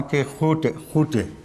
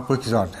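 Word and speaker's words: Quixote: وہاں ایکس جو ہے اس کو ایکس نہیں پڑھتے اسپینش میں، اس کو ہے پڑھتے ہیں، یا خے سے ملتی جلتی. تو اس کا تلفظ ہے ڈان کیحوٹے، اور ہماری اردو میں اس کا نام ڈان کوئکزاٹ ہے.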